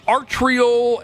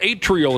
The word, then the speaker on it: atrial: years but y it's a artrial atrial is how you say atrial flutter heart rate